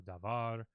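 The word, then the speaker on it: דבר: The accent will fall on the last syllable of a word. So davar, ivrit. So you can hear that in my voice. The accent where the stress falls on a syllable in a word is usually on the final syllable.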